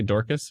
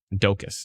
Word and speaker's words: Dokis: Oh, Docus. Sorry, did I say Dorcas? My bad. Docus. Dokis. I'm probably pronouncing that wrong, but Arnstein, Ardbeg.